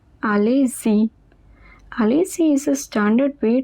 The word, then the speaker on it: allez-y: Next is allez-y. Focus on the pronunciation. Allez-y.